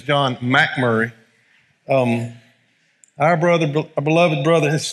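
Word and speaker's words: MacMurray: in the back and that's the proper way to say his name is John Mack Murry our brother beloved brother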